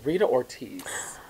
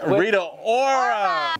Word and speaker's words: Rita Ora: wig next up uh Rita Ortiz Rita or oh he didn't even say her name right that's the sh that's the shade already I was going into it Rita Ora Rita Ora the thing that we'll